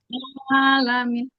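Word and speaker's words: العالمين: Nah, jadi cara baca Alamin. huruf ain tuh gini, Bu. Nih, lidah kita nih, Bu. Coba dilihat di sini ada lidah ya. Nah, lidah kita tuh geser tuh ke dalam tuh.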